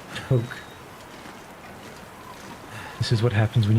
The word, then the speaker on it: toque: Despite the maple leaf hat, which is a French word that I'm not entirely sure how to pronounce, but I think it's toque.